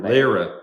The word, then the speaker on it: Lara: Lara. She She pronounces it differently.